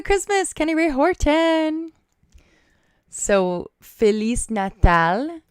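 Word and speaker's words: Feliz Natal: Kenny Ray Horton so felis natal was correct everybody to say Merry Christmas in Portuguese you say felis Nal at least according to the Google pronunciation person I don't wanna lie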